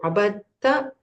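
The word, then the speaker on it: عبدت: So abatta, it's now this is all the rules of tajweed come into this. Abatta. So the da is silent. Abatta. So abatta, abattu. The da, becomes like silent over there.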